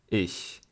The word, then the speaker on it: Ich: this "ch" is not in the throat. It's in the middle of the mouth. It's a very soft sound. It's not "их" as in the Russian word. If you can't pronounce it properly.. you can use the regional variation as in the Russian letter "Ш." But, it's better to use the standard version.